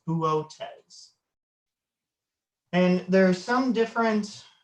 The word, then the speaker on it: Boötes: I've heard people call it boots. Some people have told me booties. But I'm probably mispronouncing it. I believe the Greek pronunciation is Boötes.